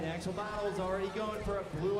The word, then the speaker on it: Axolotl-Bots: What? The Axel Bottles. I've been saying it wrong this entire day.